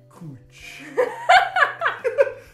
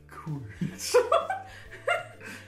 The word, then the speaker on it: cwtch: Kutch. Kutch.